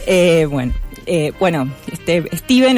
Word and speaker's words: Stephen: Me corrigieron que no se dice Stephen, se dice Steven.